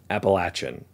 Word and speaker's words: Appalachian: CSX by the way it's appalachin I know this because I went to appalachin State University and it's not a good idea to go there and pronounce it the other way so what does all